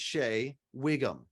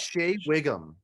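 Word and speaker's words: Shea Whigham: Shay, I think you pronounce it Shay or Shaya. I think it's Shay Wiggum.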